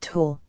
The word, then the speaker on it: Thor: She pronounced it Tor. Thor.